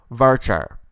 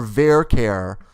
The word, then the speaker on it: varchar: now let's talk about varchar or vercare depending on your dialect i say varchar but some people say vera care that's fine rhymes with care bear right so here what